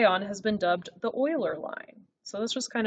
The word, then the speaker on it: Euler: interesting all right leonard euler i know it looks like euler but that's not how you pronounce it you pronounce it euler he's a mathematician he